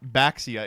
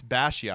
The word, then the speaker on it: Baxia: I've started saying Bashia because those people were like, "It's not Baxia. It's Bashia."